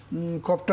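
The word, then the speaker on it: قاف: ছয়টি যেমন কফ এটা কিন্তু একটু মুশকিল এটা কফটা পড়তে হবে কোত থেকে কফটা আমরা পড়বো জাস্ট আলা জিব্বা দিয়ে কফ কফ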